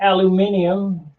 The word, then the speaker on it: aluminium: Or as the Brits say, aluminium.